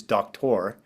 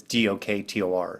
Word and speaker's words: Doktor: My last name is Doktor. It's just easier Oh. to say doctor. It's Doktor.